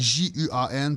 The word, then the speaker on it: Juan: C'est Juan, pour ceux qui ne l'avaient pas remarqué. Ça se prononce à l'espagnol.